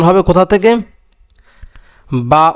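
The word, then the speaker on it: ب: বা উচ্চারণ হবে দুই ঠোঁটের ভিজা অংশ থেকে বাটা উচ্চারণ হবে। যেমন কি বা বা, ঠোঁট আবার চাপ দেওয়া যাবে না, বেশি চাপ দেওয়া যাবে না, যে কি বা বা।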